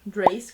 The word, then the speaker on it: Dacre: O vilão do livro, que é Drace, que é o Drace, eu nunca lembro qual a pronúncia certa do nome dele. Escreve Dacre, mas a pronúncia é diferente, tá?